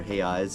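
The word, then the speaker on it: reais: be 100 real or hey eyes is how they pronounce it properly but 100 real um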